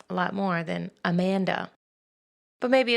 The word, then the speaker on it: Amanda: husband's beautiful accent and the Spanish pronunciation of pronouncing the letters all exactly the same not our weird English language where we pronounce letters at whatever random will we desire it's pronounced Amanda which I actually like